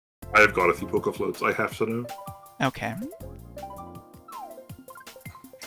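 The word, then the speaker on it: Poké Floats: You have to pronounce the e like it's a it's not poker floats.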